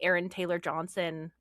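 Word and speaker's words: Aaron Taylor-Johnson: And I do think it's interesting that we don't have nearly as many examples outside of like Aaron Taylor Johnson.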